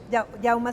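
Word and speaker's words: Jaume: una dimensión de investigación experimental de yauma ferrete yauma se pronuncia un artista Catalán que vive entre México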